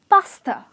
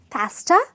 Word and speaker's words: pasta: I am talking about "Pasta" ok and not pess -ta as lot of people say it out to be not pess-ta its pasta ok so